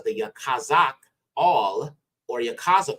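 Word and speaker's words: יחזקאל: is Ezekiel all right now this will be pronounced Yakaz or Yak kazak okay which means ala will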